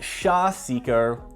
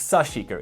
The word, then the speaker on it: sashiko: video when i first got it and i mispronounced it as sha seeker or sha but it's sushico is the correct pronunciation it means little stabs